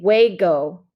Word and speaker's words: juego: little bit about pronunciation so j-u-e-g is like the saying way okay so we're saying hue go vegas when we get